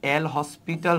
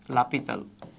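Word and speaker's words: L'Hôpital: রুলসটা হচ্ছে লাপিতাল rule লাপিতাল rule কে লিখা হয় এল হসপিটাল রুল আর কি বুঝছো উচ্চারণটা হচ্ছে লাপিতাল সো এই এল হসপিটাল রুল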